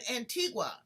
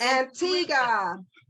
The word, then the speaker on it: Antigua: she is down in antigua originally from where were you born you were born antigua i'm saying it wrong it's antigua antigua that's how we pronounce yes antigua antigua now